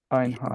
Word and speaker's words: Einhard: So, could you guess at that what language this might sort of come from? You might say, probably German. Einhart.